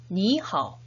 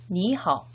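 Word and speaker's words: 你好: 니하오. 발음 주의하세요. 다시 한번 2성, 3성 주의하면서 인사해 보도록 하겠습니다. 니하오.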